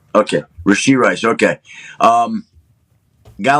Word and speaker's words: Rashee Rice: Did I say it correctly there? Yep, you got it. Okay, Rashee Rice.